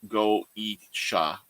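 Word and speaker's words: Goetia: The Gaudiya, pronounced Goisha, okay, cataloged to describe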